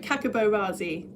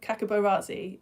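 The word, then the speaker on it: Hkakabo Razi: Uh, I'm going to call it Kakabo Razi. I'm assuming that the H is silent, but yeah, a Japanese mountain climber called Tekashi Ozaki is the only person to have climbed up Kakabarazzi in Myanmar and survived it.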